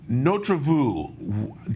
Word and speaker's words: Notre Vue: before we get started no travu am I saying it right and what is Notre vu uh yeah you you phonetically you've got it pretty much correct and notreview means our